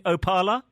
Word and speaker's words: Opaala: here in studio am i correct in suggesting opala exactly it's a pilot okay and explain the